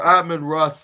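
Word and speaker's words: Amon-Ra: the 37 or or admin Ross St Brown that's what it's pronounced I should say it's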